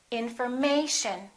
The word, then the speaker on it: information: here the a information so we don't say in for and we don't say may shown we don't say information we say information once again information in